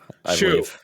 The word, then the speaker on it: Hsu: How do you pronounce that? You've seen her in other stuff. Shu.